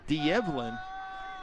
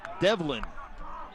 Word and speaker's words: D'Evelyn: v l y n some people may say de Evin but according to the people for the Jaguars it's pronounced develin so I wonder why they put the apostrophe